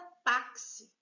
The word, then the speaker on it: táxi: Próxima palavra é a palavra táxi. A palavra táxi já vem acentuada indicando a sílaba tônica, que não é a última, é a penúltima.